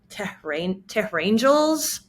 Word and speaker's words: Tehrangeles: Some people that don't know, I've heard people call it TEHRANGELES, like Tehran and angels. And I thought, that's kind of beautiful, actually. I don't mind that pronunciation.